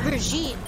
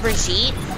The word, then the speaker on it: Brigitte: It's pronounced Brigitte. It's pronounced Brigitte. I think it's like Brigitte. It's pronounced Jeff from the Overwatch team, and it's actually pronounced Brigitte.